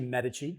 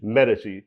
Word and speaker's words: Medici: I wanted to talk about number one, Medici. What a strong name. I had to ask you that before we got on. I said, how do you pronounce that? So it's actually Medici. Medici.